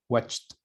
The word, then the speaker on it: watched: Este, watch, al final, la pronunciación es como si fuera una T. Watched, watched. Yesterday, I watched my favorite series in Netflix.